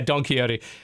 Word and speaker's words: Don Quixote: done I can never pronounce it don't quicks quicksort coyote is it really that I am that wow yeah Don Quixote there's and part is Napoleon in it and